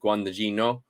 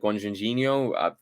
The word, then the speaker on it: Luca Guadagnino: It is directed by, I want to get this pronunciation right, it's directed by Luca Guadagnino. I think I got that right, Guadagnino.